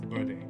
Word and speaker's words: Berde: So green, everybody understands, and then green in Spanish is VRD, but it's actually pronounced Berde, right? So and Berde in Tagalog is also green.